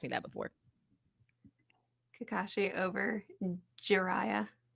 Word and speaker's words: Jiraiya: Kakashi over Jiraiya. Jiraiya? How do you say his name? I think you said it right.